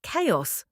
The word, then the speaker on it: chaos: Number 10, chaos. The Joker's favorite word. Don't say "chow-os". The ch makes a k sound because it's Greek.